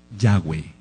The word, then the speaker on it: Yahweh: Entonces no hay ninguna duda de que el nombre es Yahweh.